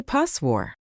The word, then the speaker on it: postwar: Take the word postwar. Most people say postwar.